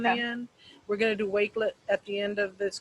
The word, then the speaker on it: Wakelet: do you spell it it's wakelet w wake like wake up w-a-k-e-l-e-t that but the flash cards is quiz let so like a quiz but led on the end we're gonna do wakelet at the end of